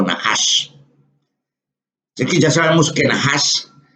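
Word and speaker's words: נחש: que no solamente se pronuncian nahas porque nahas es el término más común o general. Yo puedo decir najas en hebreo cuando estoy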